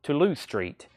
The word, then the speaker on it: Toulouse Street: but a lot of people say it's it's pronounced Toulouse Street nice uh first of all great album but